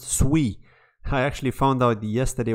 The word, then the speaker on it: Sui: sui ecosystem and in fact it's not even pronounced sui it's actually pronounced sui I actually found out yesterday when I was